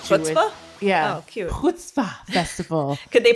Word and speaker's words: Chutzpah: Chutzpah Festival. Could they pronounce it right?